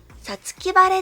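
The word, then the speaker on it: 五月晴れ: 答えは、さつき晴れです。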